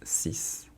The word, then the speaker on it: six: After that we have sis. Sis sis. Be careful because it's written s x but it's not six, it's sis. So it's a s at the end.